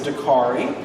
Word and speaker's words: Dakarai: Uh, the first name is Dari. Dari rhymes with Safari.